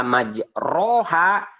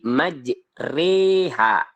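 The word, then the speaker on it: مجراها: Yang tadinya dibaca majroha berubah menjadi majreha, tapi dibaca ro-nya tipis, ya.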